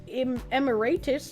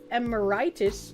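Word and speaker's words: emeritus: Accent on the wrong syllable. It's emiratus, not emiritis.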